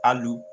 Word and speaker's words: alibi: Oh, the word alibi is pronounced aluhbye. Sounds like the name al or the first part of the word apple. Al, a very short sound like the a in about.